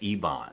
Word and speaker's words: Eibon: is covered in cobwebs and the book The Ebon it's it's e-i-b-o-n is how you spell it and they they find that and she's